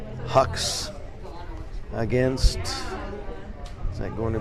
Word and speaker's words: Hux: Brandon Hux, and that's spelled H-U-X.